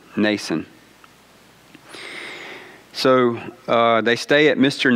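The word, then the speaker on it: Mnason: a name like that it's either mason or nason is it with m nason okay the m is silent nason so they stay at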